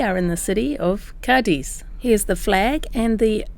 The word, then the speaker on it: Cádiz: We did this in Cadiz, and during that tour we found out that the locals in Cadiz pronounce the place Cadiz. The Z has a TH sound.